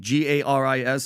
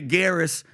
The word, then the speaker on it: Garis: This guy, Hugo de Garis, Garis. Great pronunciation. French? I wasn't going to say Garris.